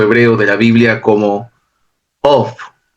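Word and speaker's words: אוֹב: Este personaje número 3 es o aparece en el texto hebreo de la Biblia como Of. La pronunciación es una O con una V. Of.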